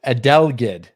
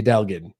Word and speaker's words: adelgid: the balsam wooly um i always mess up this word adele adelgid a delegate i think make fun of me if i said it wrong it's this it's this